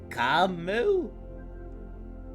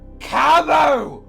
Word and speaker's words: Camo: Camu? No. Camo. He's right. You'll be saying it wrong, Ishmael. Obviously, it's Kamwa. It's Camo. Why does no one get it right?